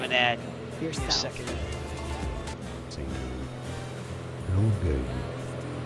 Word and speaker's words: Longueuil: Longueuil. Longueuil is how it's said in French. Longueuil, so in English you can say Longueuil.